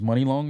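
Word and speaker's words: Muni Long: Her name is Money Long now? Yeah, but it's Mhm. spelled That's funny. M-U-I. M-U-N-I Long. Yeah, it's spelled differently.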